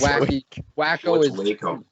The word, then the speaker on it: Waco: I'm pretty sure it's pronounced Waco, right? Correct? Yes, Waco, Texas, yeah. Yeah, okay. Because I've heard people call it Wacko, but in my heart it's always been Waco.